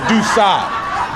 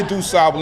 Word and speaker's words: DuSable: She said, "You are burning my ears. It's dooa." Da. Do not say Dabble anymore. Da, right?